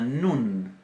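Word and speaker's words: נון: Después tenemos la nun. Nun es nuestra letra N, sin ninguna diferencia de pronunciación.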